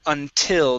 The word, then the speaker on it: until: uh next up is the word until the stress is at the end of the word instead of until until